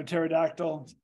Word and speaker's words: pterodactyl: Tara all right um with a P with a silent p p t e r a so pterodactyl flying so that literally